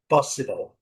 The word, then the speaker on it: possible: No inglês totalmente ela é a sílaba mais fraca da palavra possible.